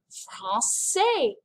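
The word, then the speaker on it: français: into a soft c it's in the word francais because that c doesn't make a k sound in the word francais it has this idea to make it a soft sea you guys we're going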